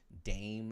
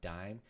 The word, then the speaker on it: Daim: Like Dame is dope. Or I think his name is pronounced Dime. If you haven't heard of him, Daim.